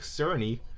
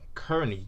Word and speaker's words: Cerny: of knack according to the game's director mark cerny or kearney depends on how you pronounce his last name is like and i